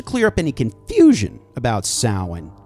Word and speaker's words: Samhain: yeah, it's Samhain.